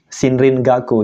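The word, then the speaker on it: 森林学: menyatakan bidang ilmu pengetahuan cara bacanya ongyomi semua yaitu Sin Rin gak sinrin gaku jadi ilmu pengetahuan tentang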